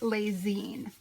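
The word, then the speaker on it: Lessines: He was born in 1898 in a small town in Belgium, pronounced Les Zines.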